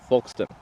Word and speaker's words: Folkston: Well, it's not English. Folkston, it's pronounced Folkston.